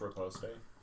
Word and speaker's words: riposte: It's pronounced riposte.